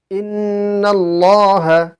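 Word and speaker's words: إِنَّ اللَّهَ: কোন সময় বারিক হবে আল্লাহ শব্দের পূর্বের হরফের মধ্যে যদি জবর অথবা পেশ থাকে তবে আল্লাহ শব্দের লামকে পুর করে পড়তে হবে আল্লাহ শব্দের পূর্বে যদি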